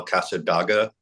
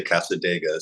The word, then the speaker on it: Cassadaga: Casta dega came out which I always want to call Casa Daga because that's kind of how it's spelled but on the record on one of the samples they say Cassadaga so and that really